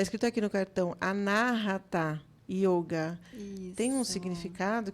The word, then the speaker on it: Anahata: do coração né então an narata né se pronuncia narata que a palavra em sânscrito que é a